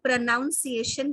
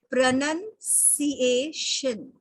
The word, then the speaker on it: pronunciation: उसी तरह से इसे लोग प्रोनाउंसिएशन कहते हैं, तलफ्फुज जिसे हम कहते हैं, इसका सही कहने का तरीका है प्रोनंसिएशन, प्रोनंसिएशन, ओके।